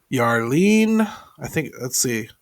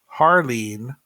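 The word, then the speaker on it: Jarlín: So the first one that I want to talk about is Yarlene. Harleen Garcia is the way it's pronounced.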